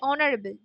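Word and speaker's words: honourable: যখন এইচ এর উচ্চারণ, ওয়াই এর উচ্চারণ যখন ভাওয়েলের মতো হয়, অনারেবলে ও দিয়ে মনে হচ্ছে যেন, যদি আমরা অনারেবল বলি কথাটাকে তাহলে কিন্তু এটা ও দিয়ে শুরু হচ্ছে মনে হচ্ছে, ওয়ার্ডটার উচ্চারণের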